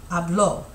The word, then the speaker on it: habló: And then usted or ella or él would be habló. And remember, the accent's going to be, there's an accent there, so you're going to add a stress on that syllable. It's not hablo, it's habló.